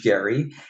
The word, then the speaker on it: Gerry: But first, we take a sidestep to Marblehead, Massachusetts, the hometown of Elbridge Gerry, and it's the only place supposedly where they still pronounce the hard G in Gerry.